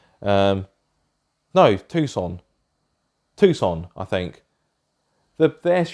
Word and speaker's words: Tucson: what yeah I drove the Tuscan no not Tuscan - sand whatever it's called I can never living pronounce it right no Tucson Tucson I think the best eveyone saw oh